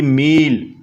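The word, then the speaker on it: ملح: अगर आपको कहना पड़ जाए तो अरबिक भाषा में आप बोलेंगे माँ हिंदी मील, माँ हिंदी मील। और मील बोलते हैं नमक को, MILH आप लगा सकते हो, लेकिन H साइलेंट रहेगा।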